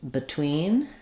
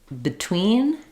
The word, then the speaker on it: between: do um above and between um in this word between it's marked in the dictionary with the I sound I do hear people say something closer to B between so that reduced schah